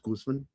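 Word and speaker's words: Guzmán: I happen to like the actor Luis Guzman and it's pronounced Guzman. Guzman. Gooseman.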